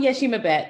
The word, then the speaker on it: Yeshimabeit: america and my guest today is ashoka fellow yeshimabite did i pronounce this correctly is she um yeshimabet but i ishmael milner you know when we